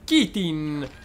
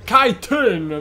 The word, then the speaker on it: Kaitin: Alveare perduto dei Kitin. Lost Hive of the Kaitin. Kaitin! Ma mi sbaglio tutte le pronunce oggi.